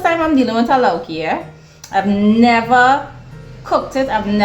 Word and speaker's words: lauki: Remember the lauki? Lauki? It rhymes with chowki.